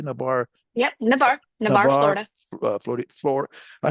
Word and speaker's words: Navarre: And I don't know how you pronounce. Is it Navarre? How do you say Navarre? Yep, Navarre, Florida.